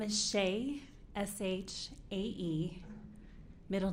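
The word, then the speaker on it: Shae: and spell your name please my name is Shea s-h-a-e middle name and maiden name Sanderson s-a-n-d-e-r-s-o-n last name is pronounced like Harris with a lisp it's herath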